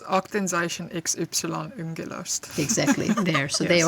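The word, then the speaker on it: Aktenzeichen XY … ungelöst: which I don't know how to pronounce very well. Upsilon. Yeah. What is it? Do you remember, Laura? Yeah, it's Aktenzeichen XY ungelöst.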